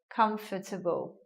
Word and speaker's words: comfortable: well now we get a three syllable word comfortable as I mentioned some people will say the words in a four syllable way like this comfortable but yeah again all the ones in this section I'd say the preferred version or the supposedly standard version is with fewer syllables looking at this word